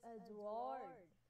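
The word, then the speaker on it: Édouard: Manet, or first name that we have is Edouard, pronounced as Edouard Manet.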